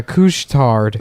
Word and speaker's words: Couche-Tard: They also have a place that's called Couche-Tard. That's the name of it. But couche is spelled like douche with a C. Oh hell yeah. Yeah. Douche tard. Yeah, Couche-Tard.